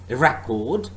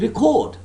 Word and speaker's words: record: syllable stress for example there are many english pairs of words like record record and record now the first word is a noun whereas the second is a verb again object object when